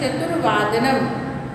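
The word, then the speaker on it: चतुर्वादनम्: चतुर में च, तु, वा के ऊपर रेफ लगाना है. वही र उसको ही उच्चारण करते हैं चतुर्वादनम. सो द चतुर्वादनम is important for ऑल ऑफ यू.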